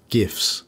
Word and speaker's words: GIF: Hallelujah um and on a side note uh gifs and yes I do pronounce it gif I don't call my GPU